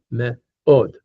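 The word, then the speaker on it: מאוד: Yeah, me'od, with the accent on the od part.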